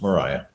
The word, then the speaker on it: Maria: it's yeah it's a spelled the same but generally pronounced Mariah yeah Mariah okay so